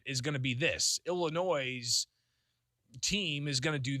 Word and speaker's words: Illinois: Illinois' team is going to do that. But you can't add that S at the end. It's supposed to be silent.